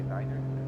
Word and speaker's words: niner: novice student population I said five but I do say Niners so usually weird